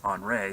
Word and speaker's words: Andre: the other storm is andre which is you know the french term for henry it's on ray so it's kind of a weird pronunciation but this is the french version um this is going